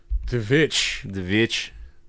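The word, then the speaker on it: The VVitch: Oh, Sam, it's actually spelled with 2 V's. The Vitch. Not a Vitch.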